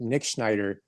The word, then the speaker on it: Nitschneider: Nitschneider.